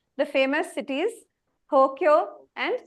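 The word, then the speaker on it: 東京: Like the famous cities, Tokyo and Kyoto. They have elongation actually. So a way a Japanese person pronounces will be slightly different. An American might say Tokyo or Kyoto, like that.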